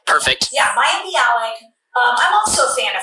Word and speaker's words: Maya Bialik: Maya Bialik? Perfect. Yeah, Maya Bialik.